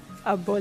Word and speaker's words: Apo: Appoh.